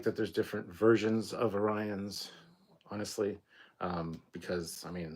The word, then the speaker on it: Orion: that um but yeah calling out you know it's pronounced Orion idiot was was great um